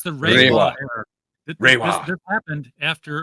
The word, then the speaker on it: Reiwa: R-E-I. EI is an A sound in Japanese. Yeah. It's the Reiwa era.